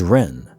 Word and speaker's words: Ren: My name is Ren, pronounced like Ren the bird.